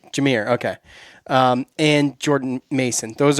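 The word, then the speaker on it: Jahmyr: I don't know how to pronounce Gibbs' first name. Jameer. Jameer.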